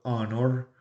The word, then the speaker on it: honor: O honor, honor, que en las que aplica lo mismo que pasa en español, y es que la H no tiene sonido alguno en algunas palabras en inglés, para que lo tengamos